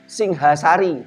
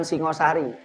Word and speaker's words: Singhasari: Singhasari bukan Singosari.